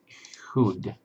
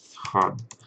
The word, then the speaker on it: HUD: Next one is hood. And the HUD. Yeah, that's how you pronounce it. HUD.